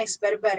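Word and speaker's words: X̿: Bacanya X bar bar karena barnya ada 2.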